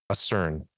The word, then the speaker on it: ACERN: Mary Rodwell is the founder and principal of Australian Close Encounter Resource Network, ACERN. That's the way to pronounce it, just like the word.